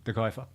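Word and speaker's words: De Cuyper: De Kuiper.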